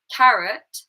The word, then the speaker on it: carrot: So the first one, carrot, it's actually in the second syllable. So the ut. Ka is an A sound.